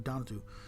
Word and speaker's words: Donatu: And I'm pretty sure it's pronounced Donatu, not Donatu. You don't emphasize the A's. It's going to Donatu.